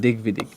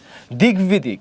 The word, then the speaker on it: দিগ্বিদিক: কি ফলা বলতো, বফলা, দিগ্বিদিক। বফলা থাকলে উচ্চারণ কি থাকবে বলতো, অক্ষত থাকবে, সেম উচ্চারণ অক্ষত থাকবে, মানে আগের মতো থাকবে, অক্ষত থাকবে মানে সে আগের মতোই থাকবে। ওকে, একই জিনিস বারবার। দিগ্বিদিক, এখানে দিগ্বিদিক, এখানে কি